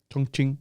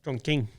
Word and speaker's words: Chongqing: It's a Q. Yeah, but it's pronounced Chongqing. Chongqing.